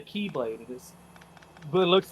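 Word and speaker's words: χ-blade: No, it's the key, but it's pronounced the Keyblade.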